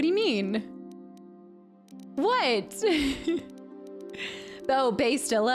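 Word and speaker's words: Bastila: I thought her name was Bastille. Yeah, it's because I wasn't able to say it right, and so we eventually just switched to Bastilla to make it easier for me.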